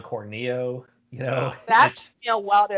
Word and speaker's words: Corneo: Because we kind of all grew up thinking it was, Mako, and it's actually Mako, and, Don Corneo is actually Don Corneo, That's me a while to adjust to, because I was always calling him Don Corneo.